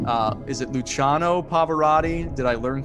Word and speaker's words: Luciano Pavarotti: longest applause placido domingo and i will probably mispronounce several of these names uh is it luciano pavarotti did i learn correctly you said it right